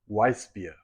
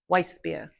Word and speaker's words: Weissbier: Weissbier. Weissbier.